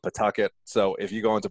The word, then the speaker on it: Pawtucket: I try to correct my Rhode Island accent so I can pronounce that correctly if anybody wanted to Google it. We call it Pawtucket.